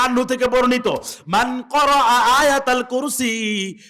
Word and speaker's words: আয়াতুল কুরসি: 255 নম্বর আয়াত, বাঙালিরা বিকৃত উচ্চারণে যারে কয় আয়াতাল কুরসি, কিন্তু এটার এক্সাক্ট প্রনাউন্সিয়েশন, এটার প্রকৃত উচ্চারণ হচ্ছে আয়াতুল কুরসি।